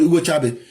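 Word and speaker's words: Hugo Chávez: Quand lui Nicolas Maduro prend le pouvoir maintenant il dit Hugo Tcha ne savait même pas c'est Hugo Chabes mais quand tu prononces en espagnol Hugo Tchabe.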